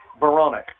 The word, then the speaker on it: Berenick: How do you say this Burgettstown kid? Berenick? Berenick, okay.